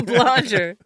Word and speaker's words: Blonger: Blue Blonger. Rhymes with conjure.